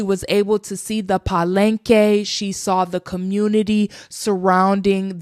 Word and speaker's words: Palenque: She was able to see the Palenke. She saw the community surrounding the AfroColian people and their culture. Another thing was that she was able to see murals. And even though this place is pronounced paleenke, there is the word p a l e